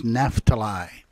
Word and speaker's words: Naphtali: name there is Zebulon the second one is NAFTA lie NAFTA lie might help you as we read that if you know their correct pronunciation alright we're going to read those two